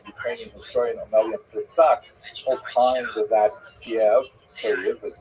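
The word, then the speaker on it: Kyiv: In fact, the great uh Ukrainian historian Pritsak opined that Kiev as it's pronounced today in the Ukrainian pronunciation cave was actually founded by Khazars which is an interesting thought.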